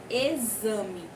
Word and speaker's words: exame: simplificar o exame vespa quando eu pronuncio exame lembra o som dos dois mas ela é escrita com x exagero ver só exageram